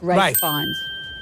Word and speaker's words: Ralph Fiennes: Ralph Fiennes. Yes, it's written Ralph, but it's pronounced Rafe Fiennes.